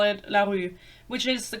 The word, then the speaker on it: LaRue: I've never seen a single person call it larue, which is the correct pronunciation, but I'm not here to do that.